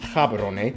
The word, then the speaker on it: Gaborone: Botswana's capital and largest city is Gaborone. If you speak Setswana, it's pronounced Gaborone, located close to the border of South Africa, and the country is divided into 9 districts.